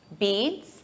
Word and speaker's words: beets: These are beets. Beats. It's the same pronunciation as the verb to beat, but the spelling is different. Beats.